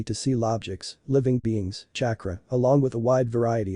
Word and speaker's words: chakra: What's kakra? Can you show me some of those weird things? Naruto looked at Pansy's hopeful face and groans silently in annoyance chakra. It's<unk>s pronounced chakra and let's just say it's another type of magic.